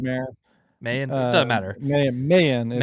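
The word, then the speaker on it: Mayen: then they're chasing and he sees Mayan, or Marin. they call him Marin. No, what did I say? I said Marin. Mayan. It doesn't matter. Mayan is how they pronounce it.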